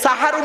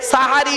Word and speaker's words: সাহারি: আর সিনে জবর দিলে, দন্তেশয় আকার দিলে সাহারুন মানে হলো রাতের শেষ অংশের খাবারকে আরবিতে সাহারি বলে। তাহলে শব্দটা কি হবে? সেহরি না সাহারি?